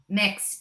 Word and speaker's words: Myx: like smart Packaging and it's called mix myx right is that how you say it mix mix Fusion yes they're